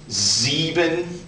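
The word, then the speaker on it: sieben: you have zet uh this almost sounds like a z z zeben a and then this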